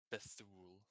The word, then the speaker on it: Bethuel: So our frontliners are Bethuel. I hope I'm pronouncing that right. And Yeah, it's Bethul.